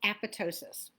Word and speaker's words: apoptosis: o s i s it looks like apoptosis but it's apotosis and what it means